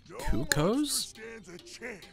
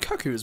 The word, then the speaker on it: Cuccos: is his favorite activity cuccos I've I don't think I've heard it pronounced that way before I always said cuckoos maybe I've been wrong all my years just like Twilight Princess